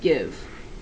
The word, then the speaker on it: give: you can't stop there give has a silent e on the end that doesn't make the eye talk okay all of these